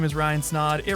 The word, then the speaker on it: Snaadt: what's going on guys my name is Ryan snod it rhymes with a lot and you're listening and